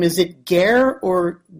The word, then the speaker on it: Guerra: Your last name, is it Guerra, or how do you pronounce your last name? It's pronounced Guerra. Guerra, okay. Nobody knows Spanish. It's Spanish for war. If you translate it in English, it's war.